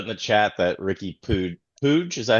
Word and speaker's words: Puig: Uh, uh, Keegan just put in the chat that Ricky Pooge, is that how you pronounce it? Pooch, yeah, it's like it looks like Pooch.